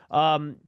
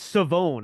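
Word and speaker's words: Shavon: Chavon Ravel, and I believe there's I think it's Savone. I don't think there's an H in there. I think it's pronounced just Savone Ravel as I figure some of these guys out.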